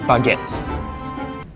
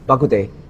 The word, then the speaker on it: baguette: Nicholas right there is holding a baguette. Bakute. Baguette. Bagatti.